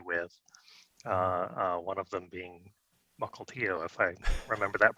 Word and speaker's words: Mukilteo: One of them being Mukilteo, if I remember that pronunciation correctly.